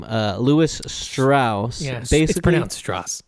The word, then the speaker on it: Strauss: story of uh what's his name uh Lewis Strauss yes pronounce straw being a piece of and